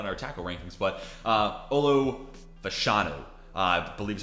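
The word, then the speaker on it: Olu Fashanu: Some of these names are names we talked about in our tackle rankings, but Olo Fashanu, I believe is how you say his name, already outpaced his snaps from last year.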